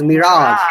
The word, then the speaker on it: mirage: Actually, it is Mirage in the British accent, yeah?